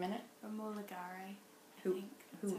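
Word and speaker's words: Romola Garai: Romola Gare, I think.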